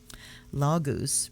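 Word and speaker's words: Laguz: and when they traveled lagoose pronounced lagoos is the rune of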